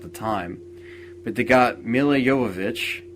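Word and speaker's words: Jovovich: time but they got M yovich which is how you actually pronounce her last name um to play a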